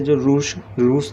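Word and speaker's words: Czar: उसी तरह से जो रूस देश का सम्राट होता है उसको क्या बोलते हैं? ज़ार। C साइलेंट होता है इसके अंदर, है ना।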